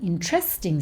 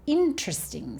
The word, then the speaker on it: interesting: We don't say, oh, that's an interesting story. That's an interesting story. God. I can't. It's really hard to put the emphasis on the wrong syllable.